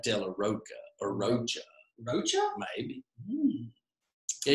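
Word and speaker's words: de la Rocha: So I've always said Della Rocca just because it makes it sound more musical, but I think he actually says that Della Roca or Rocha.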